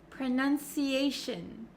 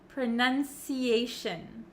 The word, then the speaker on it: pronunciation: and a lot of Japanese people have difficulty saying words that end in t i o n right so a lot of students say Shon Shon they make that o sound but for pronunciation and any word almost that ends in t i o n we actually pronounce it as Shin Shin so you can see my mouth is not opening like an o sound pronunciation pronunciation okay that